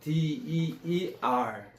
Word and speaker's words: deer: D-E-E-R. 한번 적어보세요. deer, Deer. deer, Deer. Deer.